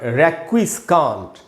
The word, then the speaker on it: requiescant: एक है, आप देखेंगे इसका उच्चारण रेक्विस्कांट, रेक्विस्कांट, इस प्रकार REQUIESCANT, रेक्विस्कांट या रेक्विस्काट या रेक्विस्कैट, 2 उच्चारण है इसके। रेक्विस्कैट अमेरिकन उच्चारण बोल सकते हैं आप। तो रेक्विस्कांट या रेक्विस्काट दोनों ही वर्ड सही हैं।